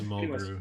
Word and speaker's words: Mulgrew: Am I pronouncing that correctly? It's Mulgrew, isn't it? Mulgrew. Oh, it is Mulgrew.